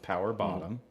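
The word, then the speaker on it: PWR BTTM: Uh There's one for the gays out there PWR and then BTTM and it's pronounced power bottom.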